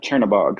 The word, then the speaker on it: Chernabog: Is it Chernabog? Churnabog. Yep. Chernabog. So based off of that's the Norse uh deity of dark.